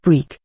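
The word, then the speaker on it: brik: were once filled Tunisian and Algerian brick brick pronounced brick is a Tunisian and Algerian derivative of the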